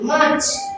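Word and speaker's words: March: থাকে তাহলে আর উচ্চারণ হবে না তাই আর উচ্চারণ হয়নি মাচ মাচ এই প্রবল এই প্রবল এখানে আর উচ্চারণ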